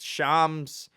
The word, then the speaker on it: Shams: I learned how to pronounce it. Shams.